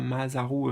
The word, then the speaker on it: Masaru: Euh, essaie de le mettre comme ça se prononce, tu vois, Masaru, enfin avec un S à la place d'un Z, Emoto, E-M-O-T-O.